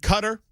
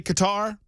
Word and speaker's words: Qatar: with you about it I've always said cutter I understand that some say Qatar if it bothers you that much I don't know what to tell you because I can't promise you that I'll go with Qatar no sane person says